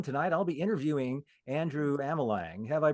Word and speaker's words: Amelang: with Ted Brown tonight I'll be interviewing Andrew Amal Lang have I pronounced your name right Andrew you have that's